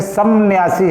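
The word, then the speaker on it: संन्यासी: वैसे समन्यासी है। सन्यासी। सम उपसर्ग है और न्यासी जो है मूल शब्द है। जब अलग करेंगे तो म का अनुस्वार हो जाता है सम न्यासी।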